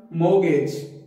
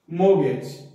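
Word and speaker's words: mortgage: इसकी जो correct pronunciation होगी उसको बोलेंगे हम मोगेज, मोगेज एम ओ, इसको कंसिडर करेंगे, आर टी को हम स्किप कर जाएंगे, और ये जो नेक्स्ट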